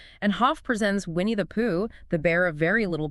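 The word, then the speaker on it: 樸: Hoff introduces this really fundamental Taoist principle called Pooh. It's pronounced just like Pooh, interestingly enough, minus the long do sound.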